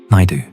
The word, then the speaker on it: Naidu: Naid do nigh like Bill Nye plus do like Scooby-Doo.